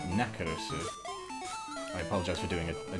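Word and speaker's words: ナックルズ: little too close to Knuckles' Japanese pronunciation, which it would be Nakarusu.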